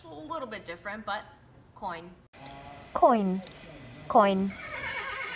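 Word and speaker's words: koń: say horse in Polish super easy coin coin kind of like coin in English a little bit different but coin coin coin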